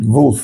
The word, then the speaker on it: Wolf: I'm pronouncing it Wolf because really in Yiddish as well as in Hebrew, there's no W sound. So, it's pronounced with a V.